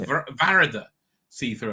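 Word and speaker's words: Varada Sethu: It's Varada see-through, apparently, not Varada. Varada see-through, I think is how you pronounce it.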